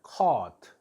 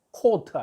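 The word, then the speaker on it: caught: 예 목격 했다 컷 au 는 어 이렇게 발음을 커트 코트가 아니고 카트 아니고 커 키커 teu 한 젊은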